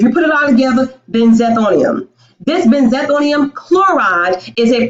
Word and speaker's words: Benzethonium: Benzethonium. Now, we're going to say that one more time. Benzethonium. Benzethonium. If you put it all together, benzethonium.